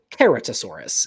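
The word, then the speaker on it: Ceratosaurus: Seratosaurus or Seratossaurus or you could pronounce it keratosaurus if you're a real sticker for Latin.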